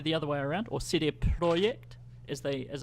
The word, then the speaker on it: CD Projekt: Ora might be the other way around or Cydia project is they as it's properly pronounced and this is really fascinating I didn't